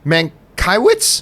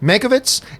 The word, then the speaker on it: Mankiewicz: intro by Ben Men I always mispronounce Ben's last name mankiewicz Michael it's Mei covets and I have an